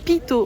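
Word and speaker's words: Peyto: bon on vient d'arriver au niveau de Peto mais ça se prononce pito en vrai pito Lake qui est soi-disant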